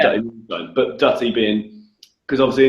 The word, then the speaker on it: Dutty Moonshine: So wait, so as we're talking about Dutty Moonshine, can you just say Dutty Moonshine? Can we hear how you say it? Dutty Moonshine.